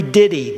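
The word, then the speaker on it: Didie: spelled it johannes knoll n-o-l-l frederick schaffner henry diddy d-i-d-i-e is how he spelled his name and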